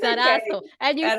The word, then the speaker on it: Lizarazo: very difficult last name is pronounced Lizarazo. See, I had it wrong. No, it's Lizarazo.